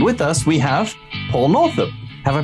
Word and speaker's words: Northup: be partially northip but is it north up yeah you pronounced it entirely rightly and um thank you